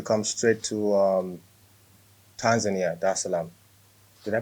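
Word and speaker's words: Dar es Salaam: the 7th to come straight to um tanzania darsalam did i pronounce that right yes that's it okay cool there's salam okay it's a beautiful uh city by the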